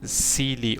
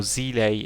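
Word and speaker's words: Seele: there such as bronia celi or zile as it's pronounced in this game well it's also from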